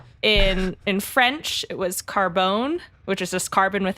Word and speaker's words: carbone: in French it was Carbone which is just carbon with an E uh which might have been pronounced how they pronounce it yeah Carbone with the emphasis on the bone uh which was then